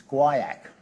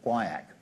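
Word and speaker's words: guaiac: a thing called and if you don't know how to pronounce this it's guak um funny way of spelling things but quak it's a chemical and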